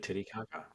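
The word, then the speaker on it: Titicaca: Lake Titty Kaka.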